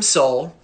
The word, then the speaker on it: Sol: The Romans called him Sol, but S-O-L, not S-O-U-L or S-O-L-E, but pronounced the same way.